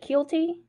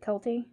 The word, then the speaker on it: Kielty: really worked out so Kelty Inc I'm some people pronounced it Kielty I announced it culty however you want to pronounce it this is